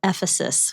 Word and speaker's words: Ephesus: Quick side note, it's pronounced Ephesus.